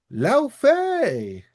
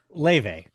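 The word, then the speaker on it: Laufey: At the very end, Santa Monica Studios came out and announced God of War Lao Fei, not the singer. Leve is how you pronounce it.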